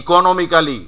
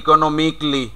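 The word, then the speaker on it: economically: হ্যাঁ, ইকোনমিক্যালি পরিচিত শব্দ, ইকোনমিক্যালি ছোটোকাল থেকে শুনে আসতেছি আমরা, কিন্তু এখানেও এটা মাইনাস করে দাও, তাহলে ইকোনমিকলি।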